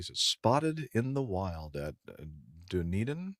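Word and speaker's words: Dunedin: in the wild at dunan airport is that the way you pronounce that DED airport in New Zealand are you hungry no Duneden already wait a minute that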